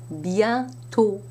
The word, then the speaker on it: bientôt: However, if you put an accent circonflexe on an O, you must pronounce it as a closed O sound, not an open A sound. So you would have, for example, bientôt.